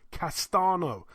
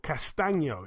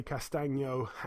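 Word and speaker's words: Castaño: Patrick Teixeira, 31-1, defends his WBO World Super Welterweight title against Brian Castano, or Castagno, it's actually pronounced. 16-0 with a draw, like I say, Castagno.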